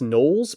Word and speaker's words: gnoll: his books that's cool that's cool he has nolles but they're spelled NE o or sorry g